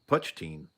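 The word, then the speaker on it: poitín: Oh, pronounced Puchin.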